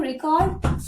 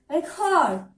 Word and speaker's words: record: So, as it is a noun, you have to stress on this part. First syllable. Record. You have to pronounce it like record.